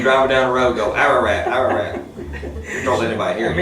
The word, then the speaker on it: Ararat: Ararat. Ararat. A-R-A-R, Ararat. Just say it like it looks, Ararat.